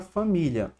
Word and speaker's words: família: Vamos analisar aqui a regra da palavra família. Em família, a gente tem o quê, ó? A sílaba tônica, deixa eu colocar de verde. A sílaba tônica é a penúltima.